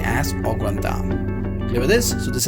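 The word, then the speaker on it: au gratin: So the pronunciation of this is Augratin.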